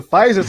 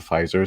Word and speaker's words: Pfizer: The Pfizer's kind of like it's like it's like the getting like a Cadillac. Yeah, because the word has a letter that you don't pronounce, so it's got to be higher grade, right?